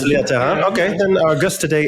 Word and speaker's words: Leah Tharin: Our guest today is Leah Tharin. Is that correct pronunciation? That is absolutely wrong. Is it Leah Tharin? Leah Tharin? It's not. Yeah, it's Leah Tharin. Okay, then our guest today is Leah Tharin.